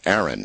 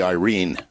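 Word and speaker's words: Airyn: my way of thinking Aaron it's a i r y n Aaron but actually um correctly pronounced um as it would be read by uh Filipino would be Irene but a i r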